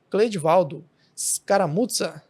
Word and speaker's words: Cledivaldo Scaramuzza: Hoje eu trago aqui para vocês o Cleidivaldo Scaramuzza. A pronúncia é essa mesmo.